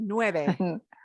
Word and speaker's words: nueve: eight pencils okay now this one is very important to pronounce correctly at the end of this number you want to smile at the end why do i say it's important to smile at the end of nueve because if you say